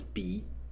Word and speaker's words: 比: So when the character is pronounced as B in the third tone, in this one, when